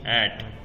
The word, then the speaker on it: @: अच्छा लगता है या ऐड बोलना अच्छा लगता है? @ क्यों? पूरा पता लग जाता है ना कि हम ये बोल रहे हैं। और रियल प्रोनाउंसिएशन क्या है? @ नहीं, ऐट। अच्छा, ओनली ऐट।